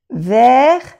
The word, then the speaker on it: vers: Vous savez, vers, no se pronuncia la S, vers les, no se pronuncia la S, les.